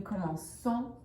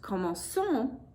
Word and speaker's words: commençons: in the new form, because CE and CI, those are soft C sounds, se and si. And over here, ka, ko, and ku are hard C sounds. So actually what I have up here is not pronounced commençons like I want, that is commençons. And that doesn't work.